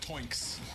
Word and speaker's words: Toinks: We're still yet to see some crazy 4-man ultimate from Twinks. I'm sure it's gonna come. Twinks or Twinks? How do you pronounce it? Toinks. Like the sound a pig makes.